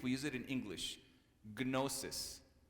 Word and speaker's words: gnosis: Gnosis. Kno. We don't pronounce the K.